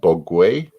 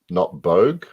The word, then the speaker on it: Bogue: think it's and that actually pronounced Bogwe, not Bogue. Okay, I would have just said Bogue. Yeah, right. I think Bogwe is correct.